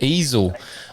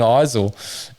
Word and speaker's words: Eisel: They said Easel on the coverage when he got a decent running at one of the rounds, and I said, "Am I saying it wrong? Because I've been saying Eisel on our state coverage," and he goes, "No, you're doing it right."